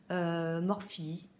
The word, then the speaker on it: Morphe: de la marque morts alors certains disent morphée morphy moi je dis morph parce qu'il ya pas y'a pas d'accent et après tout chacun d'eux prononce comme il veut en ce moment morph